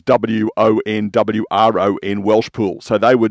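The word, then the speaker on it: Won Wron: it was Devon, Woodside, Wonron, which is Wonwron, Welsh Pool.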